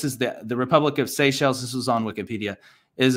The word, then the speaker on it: Seychelles: there's an island called seychelles but it's often mispronounced seashells because of the way it's spelled people say seashells you know accidentally but it's actually pronounced say shells and what the lord